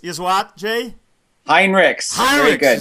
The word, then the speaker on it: Heinrichs: with us today, Jay Heinrichs, but the correct pronunciation is not Heinrichs, is what, Jay? Heinrichs.